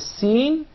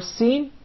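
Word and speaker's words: س: But in the case of the Sin, you keep it inside. The Sin is articulated from the tip of the tongue in the palates of the two front up incisors at a point just above the two front lower incisors.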